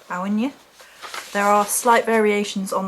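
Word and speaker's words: Áine: it looks like a in but it is pronounced awinya there are slight variations on the pronunciation before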